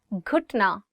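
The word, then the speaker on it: گھٹنا: So it is gaf and you're adding it with he and it becomes g, g. Ghutna.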